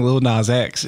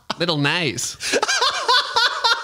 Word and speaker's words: Lil Nas X: But also, she wasn't saying Lil Nas X. She didn't. She was mispronouncing it for like weeks. And no one corrected her either, which is great. Little Nas.